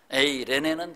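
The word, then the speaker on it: εἰρήνη: 에이레네는 좀 많이 표현을 안 해서 생소하시죠? 한번 따라서 해보시죠. 에이레네. 영어의 A자로 그냥 발음을 시작하면 됩니다. 에이레네. 레자에 악센트가 있어요.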